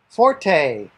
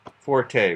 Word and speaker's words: forte: forte i've heard this word pronounced fort also like uh but forte we say definite french word huh special strength or